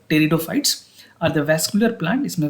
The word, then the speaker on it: pteridophytes: Pteridophytes की अगर बात करें, P is silent here, so it's called pteridophytes.